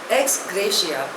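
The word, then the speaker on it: ex gratia: ऑफ हि mother the नेक्स्ट इ एक्स ग्रेशिया spelling इ ई एक्स जी आर ए टी आई ए pronunciation is एक्स ग्रेशिया इट इज अ Latin word it मीस एस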